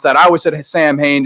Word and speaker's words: Samhain: that I was at Samhain just because of dr. Loomis but it's technically pronounced Alan right so how we